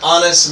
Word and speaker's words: honest: An honest mistake. Again H is silent, so be very careful.